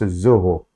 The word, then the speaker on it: Zoho: it was zoho x-o-h-o it's pronounced zoho how enough so a steroid